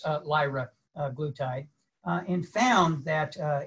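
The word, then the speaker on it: liraglutide: glutathi i actually had to learn how to pronounce uh lyra glutide uh and found that uh it promotes um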